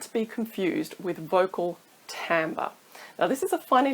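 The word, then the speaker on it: timbre: vocal tone isn't to be confused with vocal tamber now this is a funny little word and it it's spelled Tim but it's actually pronounced tamber and this refers to the overall sound of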